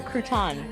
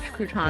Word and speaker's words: crouton: That it's a large crouton. I always that thought they put in French there. onion soup basically Crouton. had nothing in- Crouton. Crouton. Okay. I put the wrong emphasis on the wrong syllable.